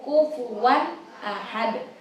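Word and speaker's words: كُفُوًا أَحَدٌ: Nah, di bagian walam yakul lahu kufuwan ahad, karena di huruf waw tadi ada fathatain bertemu dengan alif. Kufuwan ahad. Jadi cara bacanya bukan kufuwan, bukan gitu, tapi harus jelas.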